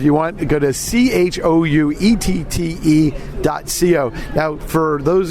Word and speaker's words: chouette: are a French challenge have you pronounced that shoe a chouette schuette alright schuette but not see you know yeah okay Schuette sesh wet co because it's not calm